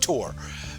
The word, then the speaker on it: Thor: And he doesn't pronounce it Thor, though. In Norway, it's pronounced Tor, because they don't have the TH sound.